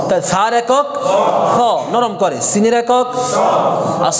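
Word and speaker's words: سين: Scene আর সদের মধ্যে হচ্ছে scene পাতলা, আওয়াজটা পাতলা হবে, আর সদের উচ্চারণটা কি হবে?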